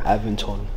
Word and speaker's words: Aventon: you pronounce the brand aventon aventon okay aventon you got it right I pronounce that in Spanish that's how it looks like it's spelled in Spanish you say rocks in